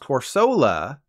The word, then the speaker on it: Corsola: team knew this so that's why corsola is pronounced corsola and its evolved form is